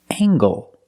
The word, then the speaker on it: angle: And this word angle. With angle, we pronounce the hard ggg sound. Angle. Angle. Use the long a.